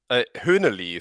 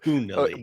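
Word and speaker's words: hoehnelii: But I met a nice breeder of Hunelli. Yeah. Mark, how would you pronounce that? Hühneli. So I would pronounce it the German way because I learned most of these names in German. So Hunelli.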